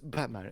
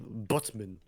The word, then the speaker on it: Batman: even then it's not it's not even pronounced Batman it's pronounced more like butman or whatever it's in